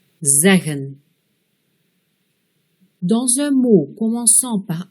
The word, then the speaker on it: zeggen: Dans un mot à deux syllabes, avec une voyelle suivie de deux consonnes, la première voyelle sera un E bref, zeggen.